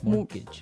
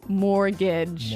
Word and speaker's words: mortgage: with a t yeah it has a t in it but you don't pronounce it you say mortgage morgage so not Mor mortgage not mortgage morgage mortgage yeah I had